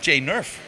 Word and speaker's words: Jane Nerf: is of course workflow and I have found Jane nerf right is that the correct pronounced absolutely Jane tell tell a little bit